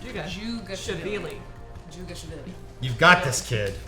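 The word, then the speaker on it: Dzhugashvili: Just think of the DZH as a J sound. Jugashvili.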